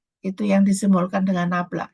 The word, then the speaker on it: nabla: ya gradien F itu yang disimbolkan dengan ee ini bacanya nabla F gitu ya Nah nabla